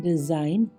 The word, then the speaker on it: design: DESIGN, डिजाइन, यानी कि रचना।